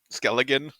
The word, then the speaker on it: Skellington: It's with a T to skeleton. Skelligan. Yeah, but it's like TSK.